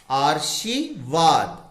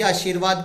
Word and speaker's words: आशीर्वाद: अगर आपने र को श पर लगा दिया तो इसका उच्चारण क्या हो जाएगा? आर्शीवाद। तो आर्शीवाद तो कोई शब्द ही नहीं होता, इसलिए ये उच्चारण भी गलत हुआ और ये वर्तनी भी गलत हुई।